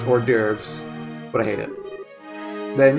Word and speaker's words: hors d'oeuvres: specific order starting with the devooze where's doo-roos i am aware that it's spelled or pronounced hors d'oeuvres but i hate it